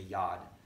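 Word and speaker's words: יוד: So when I say Yud, you're going to go yeah. Hold up your hand. You hold up your Yuds. Yeah, your Yud. Or this is actually, they pronounce it as a Yad.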